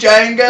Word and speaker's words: Django: Shoot, Django! I'm not gonna make. Anyway, the D is silent.